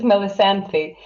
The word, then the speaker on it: Melisanthi: pronunciation of your name yes it's melisanthi no sandy yes it's fantastic because in